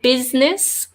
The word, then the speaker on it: business: Also business. And again, maybe it's just my accent, but the U and the I sound exactly the same. Business. Do we even pronounce the I? Oh no, it's only 2 syllables as well. So the U sounds like an I. It's a crazy word.